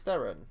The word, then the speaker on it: Theron: kind of character so it's pronounced pharaoh is it yeah Charlize Theron yeah I learned that